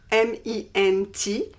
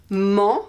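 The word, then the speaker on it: -ment: In French, it's almost the same, but we use ment, M-E-N-T, ment, but we don't pronounce the T.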